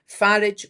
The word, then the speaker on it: Farage: Vote, vote, vote, because one of the things that Nigel Farage, and I'm not giving him his French pronunciation, Farage wants to get rid of the um equalities bill and the equalities minister act.